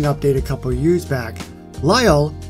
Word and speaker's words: Lyle: Lyle, which rhymes with my first name, by the way, was introduced in Christmas of 2015.